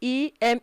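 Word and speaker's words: ième: just add surface okay i e m e that is pronounced em to the cardinal number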